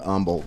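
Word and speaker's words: Humble: don't pronounce them so oh the silent h oh so Umble is how far from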